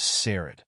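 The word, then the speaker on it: Saurod: in the movie and his name is pronounced by evil Lynn as sered his action figure has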